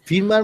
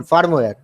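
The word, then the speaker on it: firmware: Femur sir ওটা actually ফিরমার ওটা ফিরমার মানে মানে স্যার যেটা মানে হাই লেভেল সফটওয়্যার, সেটা আমি বুঝতে পারছি, কিন্তু তোমার প্রোনাউন্সিয়েশন ভুল, তোমার প্রোনাউন্সিয়েশনটা ভুল, ফার্মওয়্যার।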